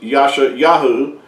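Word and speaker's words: ישעיהו: Isaiah's name of course Isaiah being a madeup name as well it's not the real Hebrew name for the prophet Isaiah his his real name in Hebrew is Yasha yahu and uh when you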